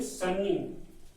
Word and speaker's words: sunny: Second word SUNNY, हालांकि double an English में double N नहीं बोला जाता है, SUNNY बोलते हैं, लेकिन आजकल बच्चे लोग क्या सभी लोग भी डबल एन बोल देते हैं, लेकिन ये सही नहीं है। SUNNY इसको प्रोनाउंसिएट करेंगे सनी।